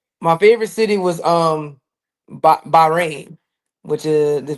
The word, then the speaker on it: Bahrain: My favorite city was um Ba Bahrain, which is pronounced Baharan.